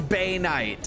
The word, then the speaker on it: Banite: But since it's meant to be for like the Bane ore, I figured it would probably remain the same.